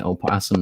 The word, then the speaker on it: opossum: on on this property by the way opossum is silent that o is silent is very developed now